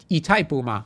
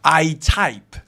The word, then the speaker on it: Itaipu: In Latin America, is this Spanish or Portuguese? This shouldn't be Spanish, this should be indigenous - they say Itaipu, kind of strange, Itaipu.